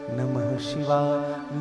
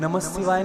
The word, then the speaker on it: नमः शिवाय: नहीं मिलेगा ओम नमः शिवाय नमः शिवाय नहीं नमः शिवाय ये उच्चारण मंत्रों का उच्चारण का यही नियम है अच्छा एक और